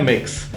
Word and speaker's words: Mx: इसकी प्रोनाउंसिएशन है मिक्स, लेकिन इंग्लिश वर्ड मिक्स के साथ इसका कोई कनेक्शन नहीं है।